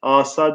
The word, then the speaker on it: asa: Asa diyoruz ama asa aslında arkadaşlar. Birincisi kısa okunuyor birinci hece.